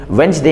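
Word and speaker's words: Wednesday: भाई ये साइलेंट है जैसे वेडनेसडे में वेडनेसडे हम लोग कहते हैं तो दी साइलेंट होता है एडजेक्टिव में के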